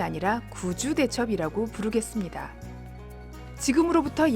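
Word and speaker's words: 구주대첩: 용어가 좀 낯설 다구요 이 1차는 귀와 구로 발음 되는데 지명을 나타날 때는 9 로 발음하는 것이 원칙입니다 경상북도 구미 를 귀 미로 발음하지 않는 것도 갇힌 이유입니다 그런데 이상하게도 잘못된 발음인 귀주대첩 이란 용어가 널리 알려져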